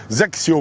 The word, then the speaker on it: XXIO: on va pas un zxio exactement ça se prononce comme ça en tout cas zacio pour être précis voilà hein et le